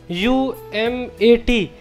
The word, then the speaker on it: UMT: of management and technology umat so umt can also be pronounced umat umat so our goal